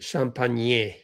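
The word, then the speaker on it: Champagnie: Although it's pronounced Champagne.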